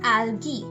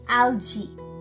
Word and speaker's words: algae: So it's alga and the plural is algae, and it can also be pronounced as algae.